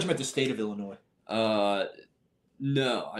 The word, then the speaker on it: Illinois: I thought you meant the state of Illinois. No, not the state of Illinois, but Do you pronounce the S in it? no, I've always been a silent S guy.